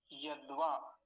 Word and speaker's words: यद्वा: तो ये दोनों शब्द एक जैसे हैं, यद्वा। अब दकार आधा है तो दकार को जल्दी बोला जाएगा, आधा है ना, आधा ही समय लेगा, यद्वा, यद्वा।